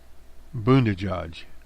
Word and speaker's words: Buttigieg: This is Pete Buttigieg. That's how they say it's pronounced.